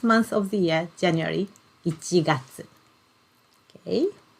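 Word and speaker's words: 一月: is this one and we pronounce it as ichigatsu so ichi number one and then gatsu month yes sorry i should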